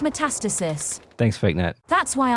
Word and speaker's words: metastasis: simulation of phase metastasis is it metastasis or metastasis i read it as met metastasis metastasis sure how do you say that word initializing fake head it's pronounced metastasis thanks fake net that's